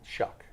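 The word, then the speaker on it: Shough: can we go can we start is it shuck shuck sh I say you said sh sh it's going to make me pronounce with an S shuck shu you're shucking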